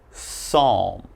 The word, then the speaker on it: psalm: we start with pneumonia Psalm psychology psychiatrist psychic and psycho so alright if you ever see these words and something you're reading just remember there's a silent P when the word begins with P and is followed